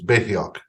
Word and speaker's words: Beherit: I keep pronouncing the T and H. It's Beherit. You don't pronounce that.